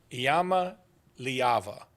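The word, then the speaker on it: Iamaleava: but go ahead yeah Yama leava that's how you say it and he did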